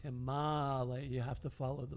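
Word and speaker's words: Himālaya: So if you hear somebody pronouncing it Himalaya, that's not right. It's Himalaya. You have to follow the vowels. Short has to be pronounced short, and long has to be pronounced long, or else you're missing the plate.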